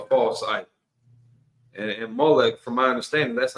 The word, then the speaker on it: Molech: And and Molech, from my understanding, that's not even a formal name. That's just kind of a generic title. Malik, it means king. I'm just giving a different pronunciation here.